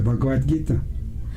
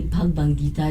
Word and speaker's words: Bhagavad Gita: book called in hinduism the bhagavad gita i always say bhagavan gita you know it's my pronunciation guys you know my